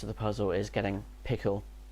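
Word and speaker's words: PECL: who's a bit confused there's two libraries pronounced pickle one spelled p-e-c-l and the other spelled p-i-c-k-l okay yeah i mean i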